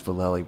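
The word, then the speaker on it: Vallely: mentioned that World Industries vallei Board yeah which was Valle is the right way to say it that's how he says it so that's his name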